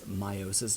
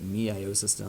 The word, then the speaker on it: meiosis: so obviously me iosys meiosis turned sexual repair excuse me sexual reproduction i sometimes pronounced that me I assistant I get it confused with mitosis but it is meiosis crossing over of the